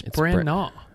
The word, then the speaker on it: Branagh: to kenneth branagh it's don't pronounce the gh it's bran naw okay silent gh yeah it's just like